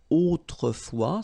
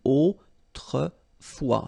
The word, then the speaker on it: autrefois: in olden times, okay, autrefois, so A-U, autrefois, final S not pronounced, okay, autrefois.